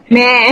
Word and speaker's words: Mhie: some now like they call me Meh, like yeah, like like it comes from the word mommy, mommy, but yeah, so they shortcut it to me, like but it's spelled as MHIE.